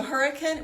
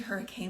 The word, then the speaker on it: Hurricane: So hurricane, which is actually hurricane, but you pronounce it hurricane.